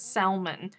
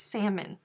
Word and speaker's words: salmon: life has been a lie if you've been pronouncing it salmon it's salmon some speakers of american english pronounce the h